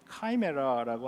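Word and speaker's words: chimera: 근데 그런 얘기가 아니고 요한이 지금 묘사하고 있는 이 말들의 모습은 이 그리스 신화에 등장하는 키메라라는 그 신화적인 동물입니다. 그러니까 이제 호머의 일리아드에 묘사되었는데요. 영어 발음은 이제 카이메라라고 하는데, 이 카이메라는 앞의 모습은 사자같이 생겼고요, 뒤의 모습은 뱀같이 생겼습니다.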